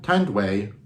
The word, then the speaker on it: Tanduay: I thought they were but uh no T tand way I hope you can pronounce it keep pronouncing it right um is